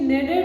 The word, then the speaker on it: knead: Therefore, she kneaded another. K word is silent here.